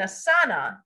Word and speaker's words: asana: and they spoke Sanskrit, they might say take an asana, or actually take an asan, because technically that A is silent.